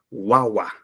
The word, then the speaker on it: guagua: Mira, son palabras graves, y una palabra grave tiene el mayor sonido en la penúltima sílaba.